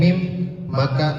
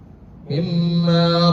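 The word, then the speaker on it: مما: Annal masjid innalladzi betul annal masjida atau innalladzi baik kita akan bahas mimmaq Mim bertasydid hukumnya ikhfa. Cara bacanya ditahan sejenak dua ketukan. Jangan mimma seperti itu. Jadi ditahan terlebih dahulu.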